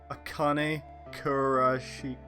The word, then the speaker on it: Akane Kurashiki: June is 0 is Akane Kurashiki.